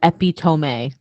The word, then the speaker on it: epitome: melon ep i-t-o-m-e now if i saw that without you telling me i probably would have said epitome it's pronounced epitome oh okay epitome i